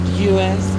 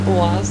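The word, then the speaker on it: УАЗ: Yeah, OAS is a Russian car, and you all pronounce it in a wrong way, because it's not US, it's OAS.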